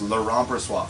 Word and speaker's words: Laurent Brossoit: And he pronounces it Laurent Brossoit? Exactly Not like Laurent? that. Nope, it's Laurent Brossoit.